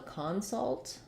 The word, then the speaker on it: consult: In that case, the vowel changes and we have a clear ah vowel in the first syllable. That's because the first syllable is stressed.